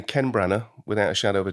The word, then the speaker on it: Branagh: Do you say Branagh? Branagh, yeah. Branagh.